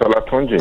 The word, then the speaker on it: Olatunji: Did he pronounce that correctly? Did I pronounce that correctly? Yes, yeah, correct. Olatunji, yeah. Olatunji, I was pretty good, huh?